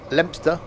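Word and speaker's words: Leominster: Lempster. Don't pronounce it wrong. Locals won't like you.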